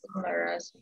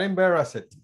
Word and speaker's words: embarrassed: I bet she was embarrassed. She was embarrassed. embarrassed. Not embarrassed. No, no extra syllable.